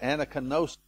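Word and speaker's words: ἀνακαίνωσις: And the Greek word is, and don't hold me to pronunciation, but anakinosis is the way I would pronounce it.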